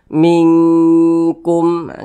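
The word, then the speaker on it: مِنْكُمْ: ikhfa Hakiki ab'ad Nah maka cara membacanya disamarkan kemudian didengungkan karena dia ab'ad maka dia condong berbunyi Eng kita baca mingkumah kita tahan kita panjangkan sejenak karena kita dengungkan mingkum mingkum yminu Billah kemudian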